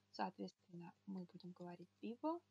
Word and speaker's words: vivo: Первая буква читалась как Б. А вторая буква, которая посередине слова, она читалась как... как будто вы английское W хотите произнести. Уэ, уэ. Но при этом не округляйте губы. И не смыкайте рот, как при русском В. Не нужно смыкать губы. То есть вы просто уэ. Биво, биво, биво, биво. Потренируйтесь. Биво. Такой как бы немножко недоделанный звук В.